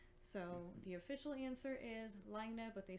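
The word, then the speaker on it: Laine: and because they are in finland they do pronounce it lina which means wave but they are aware of the double meaning of course with french and len so the official answer is lagne but they said that they are happy for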